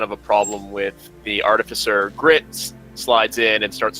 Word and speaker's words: artificer: So I have to laugh though because everyone's pronouncing artificer differently. But so with the chief artificer, and trust me, that is actually how it's pronounced.